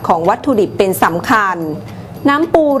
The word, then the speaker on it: น้ำปู: ดิบ ของ การ ผลิต น้ำ ปู จึง ต้อง คำนึง ถึง คุณภาพ ของ วัตถุ ดิบ และ ความ สะอาด ของ วัตถุ ดิบ เป็น สำคัญ น้ำ ปู หรือ ออก เสียง ตาม ภาษา ถิ่น ว่า น้ำ ปู๋ เป็น การ ถนอม อาหาร